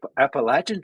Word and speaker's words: Appalachian: The App Appalachin Trail as the locals say it. Oh, okay. Say it wrong. I I guess that's that's how they say it.